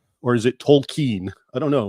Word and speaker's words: Tolkien: So if you're if you're familiar JR R token or is it Tolken? I don't know. When I was young, it used to be Token and the L wasn't pronounced.